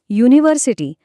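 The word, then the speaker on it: university: जास्त महत्त्वाचं ठरतं उदाहरणार्थ युनिव्हर्सिटी हा शब्द घ्या तो यु ने सुरू होतो पण त्याचा प्रत्यक्ष उच्चार य या व्यंजनासारखा होतो म्हणून तिथे आपण ए वापरतो.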